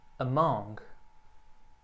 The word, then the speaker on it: among: O primeiro A bem curtinho, among.